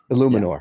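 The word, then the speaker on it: Eluemunor: If you would have caught some balls, is the pronunciation Illuminor? Illuminor.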